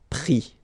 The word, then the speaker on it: pris: Pris, okay. Same thing here, you don't pronounce the final s, okay.